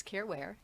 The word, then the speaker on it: Caren Ware: So it rhymes. Careware.